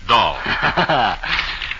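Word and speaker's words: Dahl: And incidentally, friends, Alen Dah is pronounced doll.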